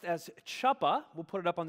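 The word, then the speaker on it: chuppah: it together it looks like they're pronounced as chappa we'll put it up on the screen here but we're going to pronounce it as as hoopa so on the count of three i want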